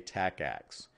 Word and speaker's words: TACACS+: read and say this when you read it in a study guide you're almost always going to see it as tacx plus but when you pronounce it you're just going to say tacacs because we all got